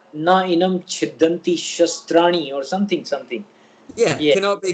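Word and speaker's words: शास्त्र: Shastra means a scripture.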